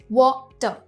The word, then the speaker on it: water: हम water नहीं कहते, हम R प्रोनाउंस नहीं करते, water.